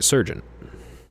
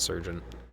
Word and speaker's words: sergeant: Nazi uh run for his money is apparently a sergeant. Sergeant, I don't know why I always pronounce it surgeon.